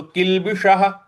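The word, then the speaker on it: किल्बिष: किलबी किलबी किलबी और श जो षट्कोण वाला श है इसके लिए जीभ को रोल करेंगे मूर्ध्वा पे ले जाएंगे उसके बाद इसका सही उच्चारण निकलेगा तो किलबिश किलबिश और जो श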